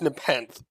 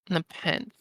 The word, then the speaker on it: Nepenthe: Uh, Just to put you out of your misery here, it's Nepenthe. Nepenthe.